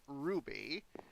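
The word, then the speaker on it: RWBY: roosterteeth and know of Ruby are waby but pronounced like the gem the series creator monty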